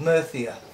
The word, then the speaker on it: Murcia: part of Spain called murthy er no I was speaking petulance a is spelled mercy ER but they pranced it no Thea so I was in